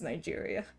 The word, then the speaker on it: Nigeria: Okay, Romo, the only surprising thing of what you said is that it's Nigeria. Maybe it's Niger. Because Nigeria is like a really big country. One of the biggest countries in the world by population. You've been saying it right, Mariah.